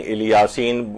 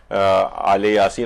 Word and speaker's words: آل یاسین: سلام علی آل یاسین، عام طور پر اس کو جو تلفظ کیا جاتا ہے کہیں الیاسین کچھ لوگ کہتے ہیں، لیکن مختلف جگہوں پہ قاریان جو ہیں وہ آل یاسین، اور روایات کے اندر